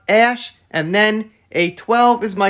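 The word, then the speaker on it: Æ: the letter x and the ae is pronounced ash and then a12 is my contribution he then elaborated that a12 stood for archangel 12.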